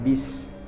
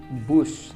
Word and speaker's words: bus: akan menggunakan bis nah kata bis di sini itu kata tidak baku salah pengucapannya seharusnya saya pergi menggunakan bus Nah itu kalimat yang